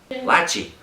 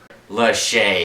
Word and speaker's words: Lachey: Lachey. Lachey.